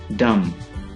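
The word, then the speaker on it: dumb: डम, गूंगा, डम। यहां पे भी बी साइलेंट है।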